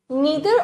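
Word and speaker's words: neither: नीदर ऑफ द कॉमिटेंट कुछ बच्चे इसको नादर प्रोनाउंस करते हैं कुछ नीदर दोनों ही प्रोनंसिएशन बिल्कुल सही है ठीक है नादर चीज शुरू करी अमेरिकंस ने वरना ब्रिटिशर्स इसको नीदर ही बुलाते थे ठीक है नीदर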